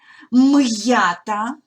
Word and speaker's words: м'ята: словами будемо тренуватися вимовляти м’ята хом'як нагадую не зливаємо приголосний з йотованими і приголосні читаємо твердо наголошую звертаю вашу увагу